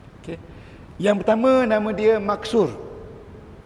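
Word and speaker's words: مقصور: yang pertama nama dia maksur Cuba sebut maksur bukan maksud maksur maksur ejaan dia mim kaf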